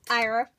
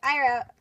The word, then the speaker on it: Aira: so after pronouncing the name wrong b it's ira that's how they pronounce it on lego anyway ira and azari here an ira has her normal